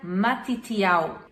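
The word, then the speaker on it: מתתיהו: O nome Mateus vem do hebraico e ele se pronuncia Matitial.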